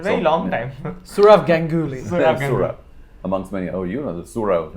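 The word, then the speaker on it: Sourav: Surav, amongst many. Oh, the Surav. Yeah. So Roddur will say Surov, and you, of course, about all sorts of names from the south. They're heavily mispronounced.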